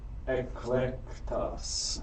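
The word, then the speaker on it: ἐκλεκτός: Ben, pronounce this word. Eclectos.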